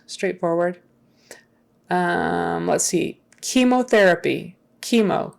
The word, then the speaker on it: chemo: um let's see chemotherapy chemo chemo that CH is not a CH sound even though you would think it would normally be